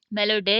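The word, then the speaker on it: melodye: And small e फॉलेस Makan मेलोडी, मेलोडे यहाँ लिखा हुआ है, इसको प्रोनाउंस भी हम मेलोडे करेंगे, लेकिन जो मॉडर्न इंग्लिश है उसमें हम इसको मेलोडी कहेंगे।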